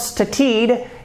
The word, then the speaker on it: studied: So then we pronounce with the d sound, studied. It is not studied, it is studied.